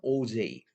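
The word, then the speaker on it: Auger: or oh they oh something but the exact pronunciation of this word is OJ okay o j again OJ so OJ recombination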